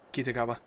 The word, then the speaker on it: Kitagawa: How are you actually supposed to pronounce his last name? Because that sounded wrong. Kitagawa.